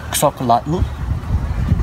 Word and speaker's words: xocolatl: and they called it xocolatl, and that's where we get the word chocolate from, is from the Mayan or Quechua word xocolatl, and it sounds very similar to chocolate.